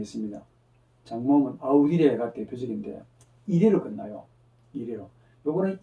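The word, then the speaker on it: audire: 레게레 같으면 이게 자음 변화고 나중에 하다 보면 아우디레 듣다. 아우디레라는 동사는 이래로 끝나잖아요. 이래는 반드시 장모입니다. 발음도 길게 해줘야 돼.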